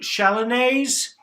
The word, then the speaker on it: Chalonnaise: And here you can see Chablis, Nuits, Mâconnais, you don't say the S, but you put the E at the end, Chalonnaise, and the S gets pronounced.